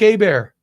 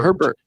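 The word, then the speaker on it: Hebert: They have a freshman named Blake Abear. How about that? Probably pretty good. Herbert or Abear? Abear? No. Abear. HB RT. No, no, no. H E B. Heert. Herbert.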